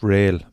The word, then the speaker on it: Real: It's Rail, but it's spelled Real. R-E-A-L, but it's Rail.